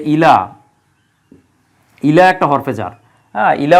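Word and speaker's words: إلى: ঘুরাও পুনরায় ফিরে আসবে ঘুরে যাবে উল্টে আসবে ইলাইকা আরবিতে একটা যেমন ইংরেজিতে আমরা প্রিপজিশন ব্যবহার করি আরবিতে এই প্রিপজিশন কে বলা হয় হরফে জার হরফে জারের মধ্যে এই যে ইলা ইলা একটা হরফে জার ইলা অর্থ হচ্ছে দিকে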